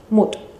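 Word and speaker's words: mwt: complejo para madre madre se escribe o se escribe y se dice en elici Antiguo mut mut y es prácticamente Así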